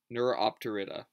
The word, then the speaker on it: Neuropterida: Snakeflies, along with Neuropterans and Megaloptera, which is the alderfly order, make up the insect clade Neuropterida, that's how you pronounce it, excuse me.